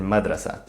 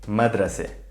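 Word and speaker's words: مدرسة: like an open vowel in standard arabic the sound of tamarbhuta is a as in madrasa in the dialect though this is raised to e madrase so the default pronunciation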